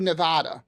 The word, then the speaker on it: Nevada: want you to know I pronounce Nevada correctly don't do Nevada it's Nevada buddy I grew up out